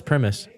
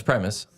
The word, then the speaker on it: Primus: yeah Prim spelling me I thought it was premise no it's Primus primis Primus it's Primus there's no e so it'd be Prim it's Prime us Primus wow did you know